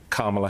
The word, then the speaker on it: Kamala: his space stuck her hand out and said kamla Harris first off I'm saying my name so